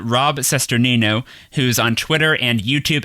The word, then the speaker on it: Cesternino: niche that you love and you said rob cesternino who's on twitter and youtube at rob cesternino and his last name is spelled c-e-s-t n o he's the host of